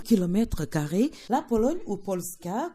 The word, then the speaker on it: Polska: Carr la Pologne ou Polska comme on le prononce bien ici et le pays